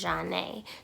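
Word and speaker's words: Jhané: if you guys didn't know my name is janae j h a n e with the accent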